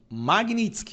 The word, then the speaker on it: Magnitsky: Magnitsky, a pronúncia correta, tá?